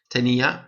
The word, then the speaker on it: tenía: Tenía, accent on the I.